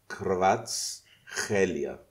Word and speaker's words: Kvaratskhelia: I can actually tell you how it's pronounced. Are you ready for this? Yes. Please. So it's Kvaratskhelia.